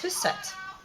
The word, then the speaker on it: Hustvedt: without men by siri houston or siri um whatever rocks your boat um you might wonder about my my pronunciation or her last name but it's a norwegian last name so it's whose set uh she is partly